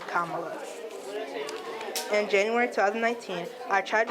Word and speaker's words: Kamala: Ella refer to me as mamala to rhyme with my name Kamala in January 2019 I